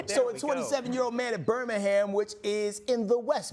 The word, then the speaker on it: Birmingham: Because no one from Alabama says Birmingham. Yeah. Yeah. They pronounce the ham. Birmingham. The ham will be present.